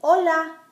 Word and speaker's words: hola: H's are always silent, like in hola. It's spelled with an H, but we never say it.